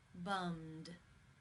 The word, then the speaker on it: bummed: The final sound in the infinitive is the M consonant sound. It is voiced. Therefore, it is case 2, and the ed is pronounced as the D. Bummed.